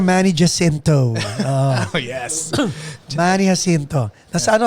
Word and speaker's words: Manny Jacinto: Pero ang pronunciation, Manny Jacinto.